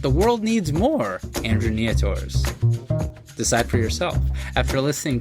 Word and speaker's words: Nietor: I'm glad I asked, so now I know it's pronounced Nieto.